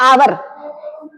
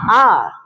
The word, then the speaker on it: hour: जैसे हम लोग बोलते हैं आवर, HOUR है ना, उसको आवर नहीं बोलते, उसको क्या बोलते हैं? आर।